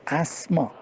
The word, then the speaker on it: asthma: problem that we usually call the asthma asthma it has to be pronounced asthma now he was asthmatic